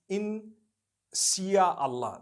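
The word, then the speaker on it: insya Allah: malay language they write in sia allah the s-y-a they pronounce it they pronounce the s-y the way we pronounce s-h so they can write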